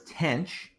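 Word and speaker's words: tanh: We're going to define the hyperbolic tangent, often read as tanch. Yeah, I know there's no c here, but I didn't make these names up. That's what they're called.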